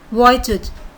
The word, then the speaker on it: Vujicic: So it's a Siberian name, so the pronunciation is different from the spelling. It's Nick Vujicic.